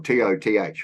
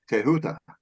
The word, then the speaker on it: Thoth: Thoth or Toth or whatever, the correct pronunciation is Tehuta.